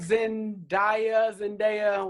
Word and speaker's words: Zendaya: Now, have a feeling some of you may like Zendaya, whatever.